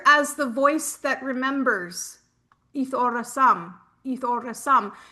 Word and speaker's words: Aethorasum: So this will be a beautiful addition, and I call it Aeth Ora Sum. You don't have to roll your R if you don't want to.